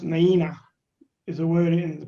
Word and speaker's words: Nuyina: summary now the story of rsv naina is pronounced naina is a word in the palau language of